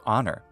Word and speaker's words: honor: why to this day we don't pronounce the h in honor nor in the name